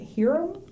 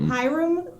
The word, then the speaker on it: Hiram: but he is playing is it hirom or i think it's pronounced hiram goomer who is like